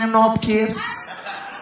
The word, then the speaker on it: MNOPQRS: Anak ketiga MNOPQRS bacanya Menopkis.